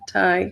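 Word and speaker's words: Tadhg: Yeah, Tig. It's Gaelic.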